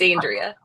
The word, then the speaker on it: Andrea: It's funny that you were asking about the pronunciation of my name for the question, but yes, it's Andrea.